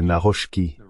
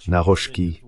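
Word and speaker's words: Nawrocki: Je crois que c'est Naroski. Naroski, je pense que c'est ainsi qu'il dit qu'il faut le prononcer, le nouveau président.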